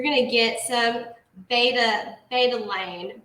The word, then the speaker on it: betalain: to get some beta betalain betalain i believe how we pronounce that so it's like similar to beta-carotene which is orange which